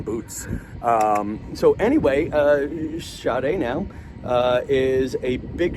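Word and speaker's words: Sade: that and the other thing look her up shade clackin joseph and and it's spelled s-a-d-e and her middle name is clackin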